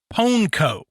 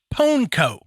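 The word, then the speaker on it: pwnco: in a ritual called ponco it's p wnco but it is pronounced ponco do you you know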